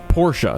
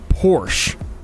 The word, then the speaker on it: Porsche: Speaking of not my thing, Porsche, at least not usually.